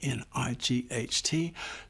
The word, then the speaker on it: knight: K N I G HT. No, it is not nighttime when you go to bed and sleep. It is night like the night in shining armor. The K is silent.